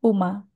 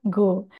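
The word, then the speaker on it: 午: Untuk kunyomi dibaca Uma. Untuk onyomi dibaca Go.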